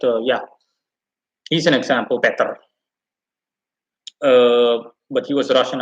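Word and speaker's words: Petr: in russian too right the e is subtracted and it's just better it's not peter it's better it's better in in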